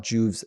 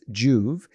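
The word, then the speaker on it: Joovv: stuff and so what i love about what juve's doing is there is natural benefits that come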